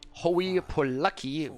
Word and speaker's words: Hooye Poluck: of the map though oh you poor lucky how this is apparently pronounced with the will queue